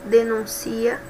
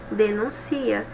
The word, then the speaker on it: denuncia: Outro exemplo, denúncia, substantivo, denuncia, verbo. Denúncia, eu tenho substantivo e observo que a pronúncia é diferente de denuncia, que é verbo.